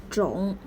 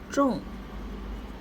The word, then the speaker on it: 种: It pronounced as 种 or 种 according to different context. As 种, it means seed, kind, type of. As 种 means to plant, to grow.